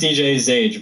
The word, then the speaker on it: DJ Zage: No problem, and it's pronounced DJ Zage, by the way.